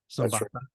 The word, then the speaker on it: Zapata: Zapata.